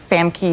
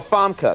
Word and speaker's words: Famke: It is, though, because everybody mispronounces my name all the time. They make Famke or Famke or whatever out of it. Really? Well, Famke.